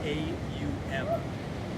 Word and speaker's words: Aum: And that it has 3 syllables like these other Bij sounds we've used. So if we were to put it in our alphabet, it would be A-U-M. Aum.